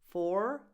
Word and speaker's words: four: This is the same sound that you have in door, more, but with an F. 4. Of course, in American English, you say 4 with a strong R sound at the end. In British English, it gets soft or dropped altogether. 5.